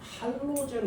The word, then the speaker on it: 할로젠: 얘를 뭐라고 하냐면 할로젠 원소라 그래요. 할로젠 원소. 일반적으로는 할로겐이라고 합니다. 할로겐. 예전에는 할로겐이라고 배웠는데 이거 일본식 발음이에요.